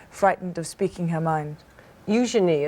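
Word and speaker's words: Eugenie: Eujenei is how you say it correctly. Yes, it's a soft she ah eujenei and beatus.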